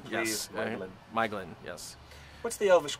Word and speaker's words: Maeglin: Elvish Maeglin, pronunciation, please. yes. Maeglin.